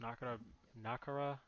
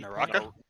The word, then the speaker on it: Naraka: How's this pronounced? Nakara Blade Point? Naraka?